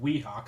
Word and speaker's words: Weehawk: of stereotypical but uh he couldn't pronounce the w and he kept saying r so uh it was uh he kept saying rehawk instead of weehawk so dale ralph calls